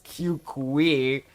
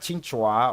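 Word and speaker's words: Qingque: I remember pronouncing your name as Q Kui. But it's pronounced Ching Chua or something like that.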